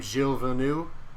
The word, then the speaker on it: Gilles Villeneuve: Is that how you pronounce his name? Gilles Villeneuve?